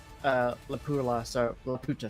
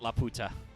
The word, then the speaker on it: Laputa: I have never watched Laputa, so I can't. La comment. Puta. Don't pronounce it La Puta.